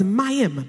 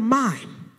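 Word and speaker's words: מים: water, and it's called mime. It's really spelled with an apostrophe, so it's mayim, but we call it, they pronounce it mime. All right, so here it is. God is over the mime.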